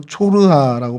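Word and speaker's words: צרעה: 어, 성경에 등장하는 소라는 히브리 말로 초르아라고 발음을 하고 있어요.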